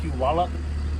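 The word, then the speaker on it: Puyallup: But we're only going to be here about a week before we go to Pew Wallup as it's pronounced.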